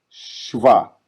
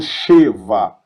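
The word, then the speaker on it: שווא: Shivá, shivá. Eu não falo sheva, falo shivá, shivá. Perceba que eu pronuncio praticamente o som do SH.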